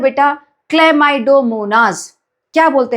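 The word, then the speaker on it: Chlamydomonas: इसको बोलते हैं बेटा क्लेमाइडोमोनास। क्या बोलते हैं? क्लेमाइडोमोनास। ऐसे याद करो। Break the spelling and then remember कभी याद नहीं होगा।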